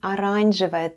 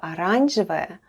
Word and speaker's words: оранжевая: The first letter is O, and it's unstressed and is pronounced as A.